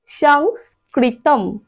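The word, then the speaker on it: সংস্কৃতম্: হবে ম অর্থাৎ সংস্কৃতম সংস্কৃতম ঠিক আছে তাহলে এটা পেলাম ন আর এটা পেলাম ম দেখো ন আর ম অর্থাৎ শেষে অনুস্বরের উচ্চারণ ম আসে আর মাঝেরটা হইলাম সংস্কৃতম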